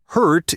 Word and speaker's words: hurt: The vowel sounds are quite different. Heart has that long R sound, while hurt has more of an sound.